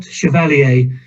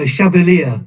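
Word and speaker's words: Chevalier: Chair by the way it's not chaler those of you of a certain age will be familiar with a French um chant called moris chavalier it's a chavalier it rhymes with Cavalier he was the first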